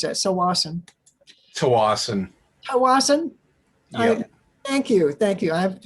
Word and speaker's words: Tsawwassen: The ferries are going to lead from two spots, from Horseshoe Bay and also from Tsawwassen.